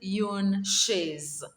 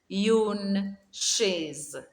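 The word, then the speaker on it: une chaise: one is a chair a chair is called yoon shays please remember to repeat after me yoon shays the second one is a table a table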